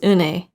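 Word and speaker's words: Unhei: your name a girl asked and hey said anhei the girl ass scratching up her face some kids chanted no no and they corrected is spelled u-n-h-e-i it's pronounced unai oh it's you hey the boy said like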